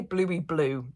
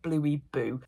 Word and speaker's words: Bluey boo: Bluey blue Bluey blue I always pronounce it wrong I always try to say Bluey blue it's not it's at Bluey boo they are an incredible